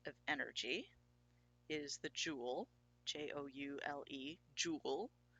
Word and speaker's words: joule: same the unit of energy is the Joule jou le joule pronounced Joule and the it can also be